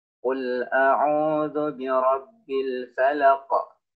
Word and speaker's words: الفلق: maka dia menjadi sukun maka cara baca qaf yaitu dengan diberikan pantulan suara karena dia merupakan salah satu huruf yang qalqalah yang memiliki pantulan suara contoh cara bacanya qul a'udzu birabbil falaq falaq ada pantulan suaranya kemudian